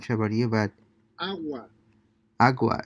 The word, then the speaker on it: agua: you are you well notice again that they're not pronouncing the g right it's very very subtle or it's highly being